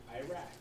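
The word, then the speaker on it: Erech: for now in English but it's spelled e r e c h in the Bible pronounced the same way so you know you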